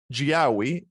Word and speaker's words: Giaoui: And today I have with me Frank Giaoui.